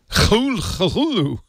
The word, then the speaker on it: Cthulhu: Actually, I'm looking now, by the way, and apparently Lovecraft himself pronounced it Cthulhu. Cthulhu. Cthulhu. There was no. I never trust the author. That's what I. Yeah, K H L U L H L O O. There was no F.